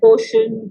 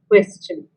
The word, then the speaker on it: question: in schools of it we find 90 percent of the kids pronouncing it wrong is question and mostly you say portion portion i don't know what all but the word is question and you will all use it in your debating you know career so you must pronounce it correctly arguments also for very